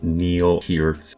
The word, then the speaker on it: Neil Peart: in the comments section telling me that I'm mispronouncing Neil Peart's name.